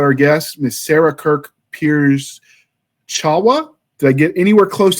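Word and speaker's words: Pierzchała: Well, in Poland, it's got a little thing on that L, and it's not pronounced L, it's pronounced W. So I went from Williams to Pierzchala.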